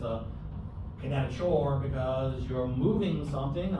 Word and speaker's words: kinetochore: Some people lump them together with the kinetochore, which you might pronounce kinetochore, chore.